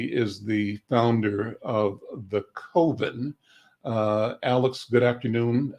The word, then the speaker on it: Coven: I think most people see Cove. And so I like to think about it's an oven, not an oven.